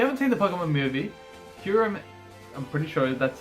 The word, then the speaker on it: Kyurem: If you haven't seen the Pokemon movie, Kyurem, I'm pretty sure that's how you pronounce it.